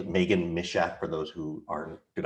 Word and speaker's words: Meghann Misiak: It's Meghann Misiak for those who aren't, did I say it right?